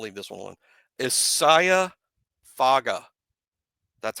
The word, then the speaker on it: Faga: Last name pronounced Faga. Emphasis on F-A-H. Faga. Isaiah Faga. That's how you say his name.